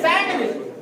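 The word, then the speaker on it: sandwich: सैंडविच क्या बोलते हैं सैंडविच दी यहां भी साइलेंट होता है क्या बोला जाएगा सम विद क्वेश्चन बहुत सारे ऐसे शब्द हैं इसमें हम दी को क्या करते हैं साइलेंट कर देते हैं ना इसको बोलना नहीं है लिखा जाता है बोला नहीं जाता है इस तरह से जिसे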